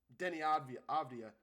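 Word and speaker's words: Deni Avdija: They had to deal with Denny Avdia. Great, yeah, I actually pronounced his name for the first time correctly. Yes, Denny Avdia.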